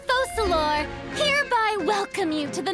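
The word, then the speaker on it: Focalors: One, so my friend who played this story last night said it is pronounced Focalor, which makes sense because in French the S at the end of an ORS is silent, Focalor.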